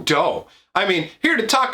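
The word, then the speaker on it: Deaux: Now, it's spelled in the French style, like D-E-A-U-X, but it's Doe.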